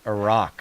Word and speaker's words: Iraq: make sure we pronounce the Middle Eastern countries properly because no one else does. Of course. So it's as if they have two R's. So it's Iraq Right.